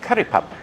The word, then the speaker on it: curry puff: pop Curry Puffs but I say Curry pup which is how they pronounce them in the moks here but they were yummy